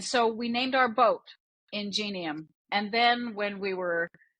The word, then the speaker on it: Ingenium: with with the name people often pronounce it not the way we pronounce it I don't know what's right or what's wrong but we pronounce it ingenium okay yeah I I